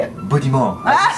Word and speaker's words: Beaudiment: and my special guest this afternoon is yes how do you say your name say it budy Mo as you say as you say it you